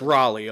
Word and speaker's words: Raleigh: for the Raleigh meet rale meet how the you pronounce it I don't give two shits um people can't it's Raleigh okay as the only as